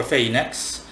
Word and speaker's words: Phenex: When I summoned Phenex, I'm simply going to say Phenex. Okay, pronounce it however you want. When I summoned Phenex, or Pheynix, when I summoned Phenex